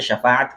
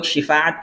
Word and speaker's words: شفاعت: اللہ سے شفاعت کرے۔ اس کو بھی لوگ شفاعت کہتے ہیں، شین کے زیر کے ساتھ، حالانکہ یہ غلط تلفظ ہے، شین کے زیر کے ساتھ نہیں ہے بلکہ شین کے زبر کے ساتھ شفاعت بولنا چاہیے۔ تو ہر نبی کے